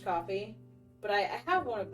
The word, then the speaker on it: Ko-fi: I always pronounce it like Ko-fi, but then they always say like, hey, buy me a coffee. So I'm assuming it's pronounced coffee.